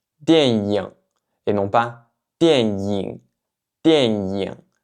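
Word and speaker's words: 电影: avoir tendance à dire dianying, dianying, et non pas dianying, dianying. En mandarin standard, en général, la prononciation standard, c'est ying, ying, donc avec la bouche plus en sourire.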